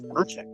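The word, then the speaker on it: Dončić: was a luka Don donic how do you pronounce his last name is it donic I it's donic that's what I thought yeah so uh he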